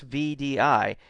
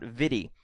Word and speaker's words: VDI: what it stands for vdi is pronounced as an initialism not as a word so it's vdi it's not vidy um most people consider